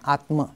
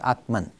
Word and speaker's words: Atman: The Sanskrit pronounces it Brahma, but in English we make it Brahman, and Atma becomes Atman.